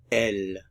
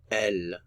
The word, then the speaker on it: elles: referring only to females L notice we don't pronounce the final consonant L they L they L